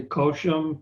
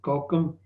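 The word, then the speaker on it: Cochem: river okay nice reflection i messed up the pronunciation of the city koshum kokum yeah that's right the maker will send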